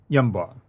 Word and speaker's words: Yanbu: We've got Yathrib, and then you have Yanbu, and you know Yunbu, or how do you pronounce that? Yamba. Yamba. So Yamba is the one that supplies all the needs for Yathrib, because Yathrib is in the desert. I mean, in Hijaz, you call it Yumba, by the way, but